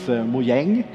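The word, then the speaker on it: Mojäng: If you spell it the same way, but you have like two dots over the A, it's Mojang, which means gadget or gizmo or something like that.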